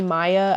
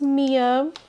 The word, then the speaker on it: Mia: Sometimes people call me Maya. I've had a lot of people call me Maya before, too, but it's pronounced Mia.